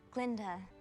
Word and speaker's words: Glinda: Glinda, the G is silent. Hello, Glinda.